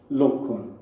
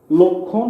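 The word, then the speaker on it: লক্ষ্মণ: দুইটা শুধু পার্থক্য হচ্ছে এখানে একটু চন্দ্রবিন্দু, লক্ষণ আর লক্ষণ, মানে এখানে একটু নেজালাইজেশন হবে। এটা হচ্ছে যে রামের ভাই, আর এই লক্ষণ হচ্ছে ইংরেজিতে সিমটম বলে, যে রোগের লক্ষণ প্রকাশ পেয়েছে।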